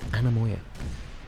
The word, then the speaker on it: anemoia: I'm assuming it's Anomia. It looks like the shortened version is Anemoia. So I'm assuming Anomia. Really nice if they actually, you know, put it somewhere. Anemoia. Yeah, Anemoia. Okay, so that's how you say it, Anemoia.